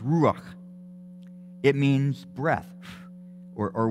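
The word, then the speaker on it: רוח: words that are translated as as spirit it's pronounced rock it means breath or or wind or spirit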